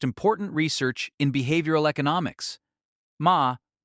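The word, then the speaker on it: 間: Ma. Pronounced ma, it means negative space, the intentional pause,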